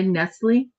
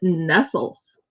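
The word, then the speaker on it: Nestlé: Cuz the E, the way the E is accented like the accented E in cafe.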